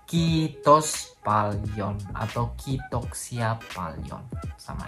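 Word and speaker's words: kiitos paljon: valion kitok siapa Lion itu ada penekanan pada double Iya udah beliin pokoknya apapun yang udah lechter itu harus diucapkan dengan panjang kitos falchion atau kitok siapa Nyon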